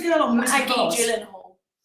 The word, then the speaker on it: Gyllenhaal: It's pronounced Gyllenhaal.